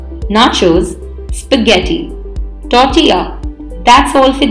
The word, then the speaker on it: nachos: often incorrectly pronounced as naturals please remember the N a here is pronounced as na and not nay making it sound like nachos so the correct pronunciation of the word is nachos spaghetti is pasta made